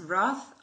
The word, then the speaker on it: Roth: into the family name because roth obviously rhymes with goth so there's no doubt